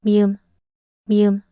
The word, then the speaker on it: 미음: 미음, 무. And m sound like in mom.